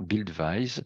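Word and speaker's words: Buildwise: de nom qui s'appelle Bill this maintenant Bild Weis si on veut le prononcer correctement et donc nous avons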